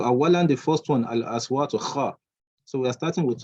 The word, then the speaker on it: خ: Kha, kha, kha. As if you want to produce some phlegm. Kha, kha, kha, kha. Quite a difficult one. So not ha, not our ka.